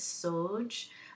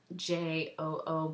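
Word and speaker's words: Sjöö: I believe the last name is Sjoo, but it's Sjoo, but it's kind of an European pronunciation of her last name, and then Barbara Moore.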